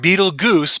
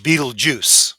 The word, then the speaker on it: Betelgeuse: It's not Betelgeuse, but pronounced Betelgeuse.